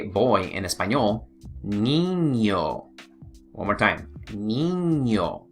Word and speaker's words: niño: Niño, all right? Niño. So if you see that squiggly line, that tilde above the letter N, make sure you pronounce it ñ, all right?